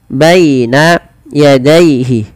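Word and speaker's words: بَيْنَ يَدَيْهِ: Lafal baina dan daihi ini kedua-duanya dibaca dengan bacaan lin. Yaitu dengan melembutkan bunyi suara ya dilembutkan. Baina yadaihi.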